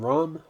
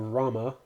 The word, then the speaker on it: Rama: going to be playing Ram or Rama it depends on how you want to pronounce his name in The Duo Lane